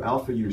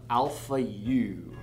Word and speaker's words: Alphayue: very excited to tell you about these new alpha u strings apparently thomastik says you can just pronounce them alpha u alpha u um which just makes no sense